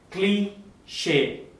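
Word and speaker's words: cliché: How do we pronounce it? Cliche.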